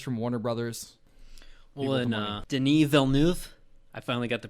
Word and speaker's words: Denis Villeneuve: Well, and Denis Villeneuve, I finally got the pronunciation down.